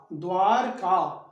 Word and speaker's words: द्वारका: द्वारिका नहीं, द्वारका, द्वारका, द्वारका, रिका नहीं रका, द्वारका।